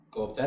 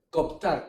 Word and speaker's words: cooptar: Alguno por ahí dice coptar con una sola o y no existe coptar con una sola o no existe.